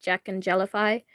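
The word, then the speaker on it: Jacknjellify: If you want to watch it, you look up Jack and Jellify. It's spelled Jack and then letter N and then Jellify.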